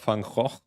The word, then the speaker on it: Van Gogh: The story behind the title is that apparently people pronounce this name, the first one, the artist, the painter, people pronounce it differently across the world. Right? And so the original true pronunciation of this name is very close to like a spitting sound. So that's I think how the Americans pronounce it.